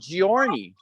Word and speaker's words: Giorni: But there's a soft G, like my name is actually Giorni, and that's like a J, which is a heart of gold.